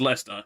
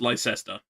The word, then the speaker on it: Leicester: Yes, Leicester is Leicester. It is not pronounced Leicester.